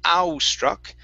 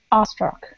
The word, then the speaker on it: awestruck: awestruck uh-huh yeah now be careful with that w we don't want to say au struck it's r struck awestruck uh-huh just like that